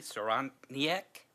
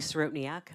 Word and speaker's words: Sorotniak: The next person is Saroniak. Thank you for bravely trying to pronounce my last name. It is Sorotniak.